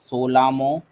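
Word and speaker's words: Tsomgo: সোলামো। সোলামো। বা চোলামো, সেটা রয়েছে সিকিমে রয়েছে। টি অ্যাকচুয়ালি টিএসও, টিএসওটা টিটা সাইলেন্ট আছে, সোলামো, ঠিক আছে।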